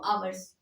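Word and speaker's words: hours: की इंग्लिश क्या लिखेंगे तू अवर्स ह साइलेंट है ठीक इसको नोट कीजिए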